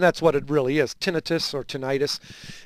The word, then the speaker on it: tinnitus: Ted, talking about something called tinnitus. Yep, tinnitus.